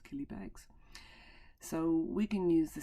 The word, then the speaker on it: Killybegs: Rhymes with Millie Fegs. Very good, it's Killybegs.